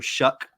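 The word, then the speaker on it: Shough: They're obviously bringing over Tyler Shuck from Texas Tech. I know we mispronounced his name when we did the Texas Tech preview earlier in the year. That don't look like no dang Shuck.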